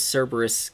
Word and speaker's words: Cerberus: it it's so slow why does cerberus get pronounced with the beginning with an s sound instead of a hard k i have no idea uh there's it's possible that the it was originally pronounced that way in greek or something but i don't know i've always heard it uh pronounced as cerberus so that's just that's just what i go with hey james i